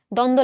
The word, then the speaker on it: দ্বন্দ্ব: দ্বন্দ্ব, দ্বন্দ্ব সমাস, হ্যাঁ, দ্বন্দ্ব লাগছে, ঝগড়া লাগছে, এই যে বলো, এখানে কি কোথাও বয়ের উচ্চারণ হচ্ছে, দেখো দ্বন্দ্ব, দ ন দ, এটা উচ্চারণ হচ্ছে, ব কিন্তু কোথাও আসতেছে না।